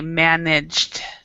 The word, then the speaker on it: managed: Okay, now in this one with ED, when there's a D, you don't always pronounce the E. So for this one, we would say managed.